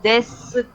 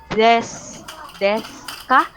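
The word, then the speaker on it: です: Yung desu ka, but it pronounced as desu ka, silent U. Okay? But some Japanese, desu, but I think it's des.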